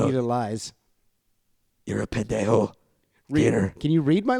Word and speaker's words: pendejo: Would you say he's a pendejo because he took your pen? Hey, that was a good one, Gator. Yeah. You should have just said it right, though. It's pendejo.